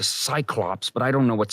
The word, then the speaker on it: Cyclops: You're mispronouncing the name of the one-eyed mythical creature. It's a Cyclops, but I don't know what Cyclops is.